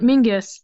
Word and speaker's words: Menzies: You get the disconnect of, any American is gonna look at that and pretty much go Menzies. If you want Mingus, there should be a G in there for sure for us.